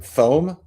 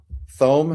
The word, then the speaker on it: Thome: Is it Thome? Thome? Yes. Is that how you pronounce it?